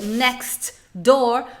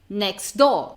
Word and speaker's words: next door: Então muitas vezes você vai ver, por exemplo, next door, você não vai ouvir esse T. O que você vai ouvir? Next door.